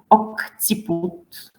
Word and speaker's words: occiput: So see, when we have here double C, it depends on what comes after the second. The first one, it's going to be K, occiput.